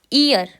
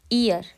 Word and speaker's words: ihr: अब इसको हम कैसे प्रोनाउंस करते हैं, ये प्रोनाउंस होता है ईयर। ईयर। ओके।